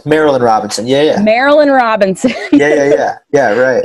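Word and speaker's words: Marilynne: love the novels of Mary Lynn I always got her name wrong Marilyn Robinson not to be confused with Mary Ann Robinson remember Marilyn Marilyn Marilyn Robinson yeah yeah Marilyn Robinson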